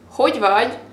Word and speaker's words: Hogy vagy: Now that's again kind of a tricky phrase because there is this letter that it's really hard to pronounce for English speakers because there's not really a word in English that would use this kind of sound. So let me say it first.